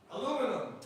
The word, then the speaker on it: aluminum: Aluminum. Aluminum. We pronounce it aluminium. Well, we pronounce it aluminium. Well, over here in Boston, we pronounce it aluminum.